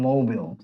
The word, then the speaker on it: Mobil: Mobile? There's an Mobil? E. I think English is weird. Oh, there's no E. Exxon Mobil. Sorry, it's Mobil.